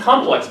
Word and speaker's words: complex: or complex issue but usually as a noun it's pronounced complex always as a noun it's on the first syllable for example a sport complex a Sports Complex like